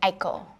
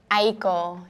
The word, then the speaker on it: Aiko: cuz you know a was like a well that's like the American way to say it. It's a Japanese name so you would say eekiko if you were Japanese but Aayeko is like how I